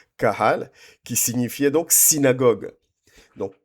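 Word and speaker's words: קהל: Étymologiquement, les l'église va venir du mot du mot hébreu kalal. J'espère que je prononce bien Caral qui est Q H A L A Q H Q U A L A Q U A H A L pardon Kahal qui signifiait donc synagogue.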